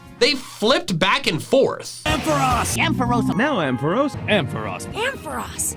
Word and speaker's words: Ampharos: Its official pronunciation is Ampharos.